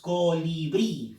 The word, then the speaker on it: colibrí: Fuerza de voz, colibrí. Fuerza de voz está en brí. Por lo tanto, última sílaba, allá. Esa es una aguda.